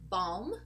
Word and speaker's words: balm: walk another group where a group of words where we also do not pronounce the letter L are these words over here balm as in lip balm